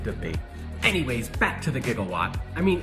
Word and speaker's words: gigawatt: and as an engineer I've always taken issue with Doc Brown's pronunciation of a jigawatt I mean what exactly is a jigawatt doesn't he mean gigawatt I wonder what Doc